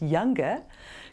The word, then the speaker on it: YUNGA: The Youth and United Nations Global Alliance, YUNGA, pronounced younger, Climate Change Challenge badge